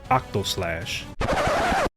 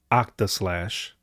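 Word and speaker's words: Octaslash: least seph's most lethal attack is limit break octo slash I'm just kidding I know I know it's pronounced OCTA slash but every time I see this limit it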